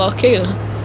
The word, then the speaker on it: Al-Qaeda: It sounds like you're saying Sega. That's how I used to pronounce Al-Qaeda. No, it's like a Star Wars saga, not Sega.